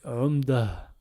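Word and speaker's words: عمدة: Ça nous donne umdatun. Pareil, imaginons que c'est le dernier mot d'un verset. Eh ben, umdatun, on va le prononcer umda. Umda.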